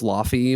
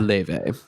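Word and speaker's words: Laufey: I originally thought it was Lafy, but it's pronounced Le.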